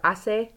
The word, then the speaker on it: hace: So right up here at the top, we have hace mucho calor. Hace mucho calor. Now you might notice here we don't hear the H sound at all. So that H, as an